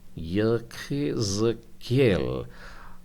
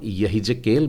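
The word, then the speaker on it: יחזקאל: हम लोग इस पुस्तक का नाम यहिजकेल बोलते हैं, परंतु देखिए को जब आप गले में पीछे से उच्चारण करेंगे तो आपके स्वर का जो शब्द निकलेगा वो ख इस प्रकार से आएगा, क नहीं, और इन दोनों के बीच में एक है ख, और यही ज केल नहीं, जाइन है वहाँ पर, मतलब उच्चारण ज का आएगा, यहिजकेल।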